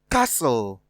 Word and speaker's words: castle: Option C, castle. Option D, looked. From the options given, in option A, T is silent. B, T is silent as well. Even in C, T is silent.